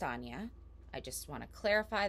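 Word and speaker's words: Áine: title of the video her name is actually spelled a-i-n-e but it is pronounced anya i just want to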